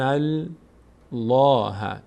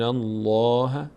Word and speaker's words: الله: فتحه فتحه یخادعون الله اینجا چون قبل از لفظ جلاله فتحه اومده اینجا دیگه پر خونده میشه اینجا لفظ جلاله پرخونده میشه منظور از پرخوندن اینه که دهان به سمت بالا باز میشه در هنگام تلفظش برخلاف این کلمه باللهی در کلمه در خط بالا آیه قبلی که اونجا باریک خونده میشد پرخونده نمیشد جمش بالله مششي يخادعون